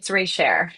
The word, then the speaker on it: Reichert: It's Reichert.